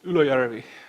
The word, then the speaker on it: Ylöjärvi: and he lives in a place called Ylöjärvi. If you pronounce the place right, it sounds like somebody's growing up, but that place really exists in Finland.